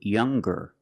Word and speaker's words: younger: So it's younger with a g sound.